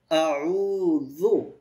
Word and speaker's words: أعوذ: আউযু, তাহলে আ প্রথমটা হচ্ছে হামজা, পরেরটা আইন, তারপরে রুটা এক আলিফ লম্বা হবে, জাল জিহ্বার আগে দিয়ে নরম উচ্চারণ হবে।